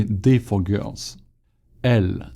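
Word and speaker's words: elles: Elle. Do we pronounce the S at the end? Elle.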